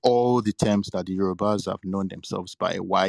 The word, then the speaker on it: Yoruba: So the people talk about the Hausa people, how they pronounce us as Yariba, and that means something. So first of all, it doesn't mean anything like I've said. But Yariba that they say, or Yaruba or Yarba, is just their own way of articulating, attempting to pronounce the word Yoruba.